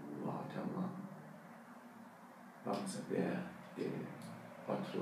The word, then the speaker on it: Waterman: Hoy día los Waterman o Waterman plumas han hecho, hacen en Francia, por eso mucha gente pronuncia el nombre no como inglés, como Louis Edson Waterman. Hoy día mucha gente pronuncia como Waterman.